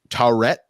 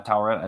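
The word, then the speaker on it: Taweret: wonderful, wonderful hippo friend, Taurette, I believe is how it's pronounced. Is that correct, Alex? I think so. Yeah. Taurette is, I think, how they said it.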